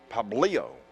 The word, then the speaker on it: Pablo: a strike from june so pablio that's the correct way to say that ball's hit on the